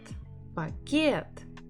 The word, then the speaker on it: пакет: Where is the stress? Где ударение? On which syllable? Syllable number 1 or syllable number 2? Should I stress па or should I stress кет? Пакет. Пакет. Пакет. Пакет. It is on the second one.